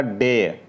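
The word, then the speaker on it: dare: हाउ डेयर you touch me. हाउ डेयर you touch me. यहाँ पर डेयर का pronunciation correct होगा डेयर. डे आर जो यहाँ पर है यह साइलेंट होगा तो डे हो जाएगा.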